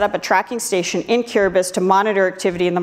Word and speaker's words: Kiribati: Kiribati, it's spelled Kiribati, but it's pronounced Kiribati.